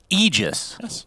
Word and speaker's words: Aegis: salve okay what about Aegis syndrin Aegis it's Aegis technically okay but icefrog himself said no I want everyone to mispronounce it as Aegis so we do out of respect and Abaddon that's my